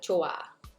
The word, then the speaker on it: 좋아: The basic here is silent, so it sounds like 좋아. 좋아.